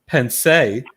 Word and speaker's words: Pensée: She's the She is the Miss National Bearded Empress Emeritus Pensée. Correct. Accent on the E. Come on. Just like Beyonce. Little accent on the last E.